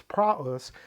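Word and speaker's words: πραΰς: accenting above the opsilon so this is why I said it's it's not PR or PR it's prus because we have the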